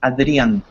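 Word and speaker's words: Adrián: correctly not exactly it's adrian adrian that the accent is at the end but you can call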